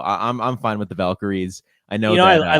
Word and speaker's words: Valkyrie: how to do it it's just Val Kyrie the Val Kye yeah Zena was saying it's the Val Kyrie Irvings or someone said it exactly what it is that's exactly her pronounce yeah and you could